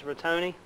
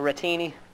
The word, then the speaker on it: rotini: And the pasta I chose for this dish is rotoni, or rotini, as they tell me. I pronounce it wrong.